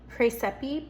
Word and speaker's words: Praesepe: Praesepe p r a e s e p e if I'm pronouncing that correctly.